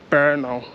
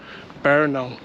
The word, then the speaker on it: Brno: as well so it's spelled b-r-n-o and it's pronounced Bernal bear now um so um yeah feel free to come